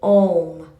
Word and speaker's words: Om: So, too, the letters A, U, and M are uttered as Om.